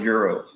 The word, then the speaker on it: gyro: So I always used to call it in New York you would call it a gyro, right? Gyro. You call it gyro. Over here they call it a euro. Okay. Euro. And I think that's like the right way to say it, but I'm not gonna say it.